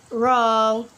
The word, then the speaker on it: wrong: For example, like wrong, right, road. We not pronounce the letter W because after letter W we have letter R, and letter W also not pronounce it when in these common words.